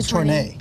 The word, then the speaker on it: tournée: a look at, but this is the tournée. This is brand new this month. Did I say that correctly? Tournay. Tournay. They don't have the accent on the graphics. I don't think they can do that, but there's a little accent mark over the first E for Well, then I Tournay.